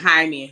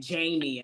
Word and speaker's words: Jaime: black people too and it was like Jaime she was saying Jamie Jamie yeah and it's like no no that's not my name you